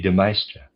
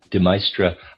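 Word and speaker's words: de Maistre: Deestra I am pronouncing it that way is D E. Then capital M A I S T R E. Uh, forgive me. I'm gonna pronounce that Deestra.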